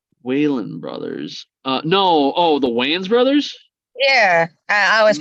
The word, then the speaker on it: Wayans: I want to say it's the Wayland brothers. Wayland brothers. No. Oh, the Wayans brothers. Yeah, I always pronounce their name.